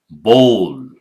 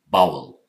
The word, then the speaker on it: bowl: This one, bowl, long O. This O sound, bowl. Do not call it bowel. That's entirely different word.